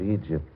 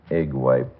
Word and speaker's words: Egypt: And all this evening wear will have that mysterious look of Egypt or as Archie Blar pronounces it, egg wiped.